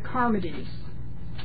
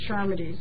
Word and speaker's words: Charmides: It's the Charmides. Some people pronounce it Charmides. It's C-H-A-R. But in Greek, that's a K. That's a hard sound.